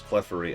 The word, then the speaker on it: Clefairy: Then there's Clefery and Clefairy, which is a little more obvious. Clefairy is how they say it in the show.